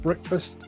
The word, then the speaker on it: Break Fast: would be on at breakfast at 10:00 a.m. which is why that is precisely why I pronounce it break fast I could have gone